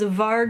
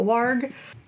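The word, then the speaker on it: Varg: pronounce the J's so I'm going to assume V is still V and his name is VAR not war he was a thrw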